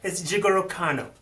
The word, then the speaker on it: Jigoro Kano: It's Jigoro Kano.